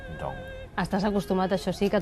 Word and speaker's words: Ndong: Normalmente mi nombre se pronuncia Boniface Ndong. Es que el sonido de Nd no existe en francés o castellano, entonces los europeos dicen Ndong, pero normalmente se dice Ndong.